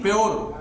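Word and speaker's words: pure: आगे बात करते हैं, यू का उच्चारण है यो की ध्वनि में। प्योर, प्योर मीन्स होता है शुद्ध।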